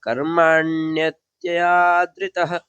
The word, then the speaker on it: कर्माण्यत्यादृतः: तो यहाँ पे जो कर्माण्य ये जो दोनों हैं ये मिल जाएंगे, ठीक है, क्योंकि ये दोनों एक ही साथ उच्चारण होंगे। तो कैसे हो जाएंगे? कर्माण्यत्यादृतः, ठीक है, कर्मा और ये न्यत्यादृतः ये दोनों एक साथ उच्चारण जब करेंगे तो आप सही उच्चारण होगा, इनको अलग नहीं करना है, ठीक है। कर्माण्यत्यादृतः ऐसे करके एक में कर देना है।